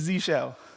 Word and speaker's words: zsh: And the beauty of this is, of course, nobody knows how to pronounce it. Is it the 10 shell, the X shell, 10sh, zish? Hypothetical. Yes, I want a part of the income. What we're getting is Z-shell. Z-shell.